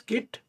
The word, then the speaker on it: Git: Whether to pronounce Git or JIT if there is a dilemma the actual pronunciation is git whereas you know some people do pronounce a JIT which is also okay. Now let's see what is